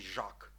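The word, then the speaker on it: žák: цієї кагорти Це є звук жет так у слові жак жак легко вимовляється і означає що учень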